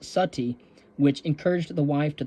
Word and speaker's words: Sati: the ritual of Sati often written uh uh s a t but also s u tte e uh pronounced Sati which encouraged the wife